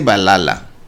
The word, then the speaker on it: Valhalla: Yo digo que es Valhalla o algo así. Aquí dicen, se dice Valhalla.